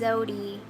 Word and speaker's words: Zewdy: When people say my name wrong, I let them know. No, it's Zewdy, not Zewdy, not Zewdy, all that kind of stuff.